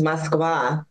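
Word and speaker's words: Москва: Well, in Russian, it's Moskva. Moskva?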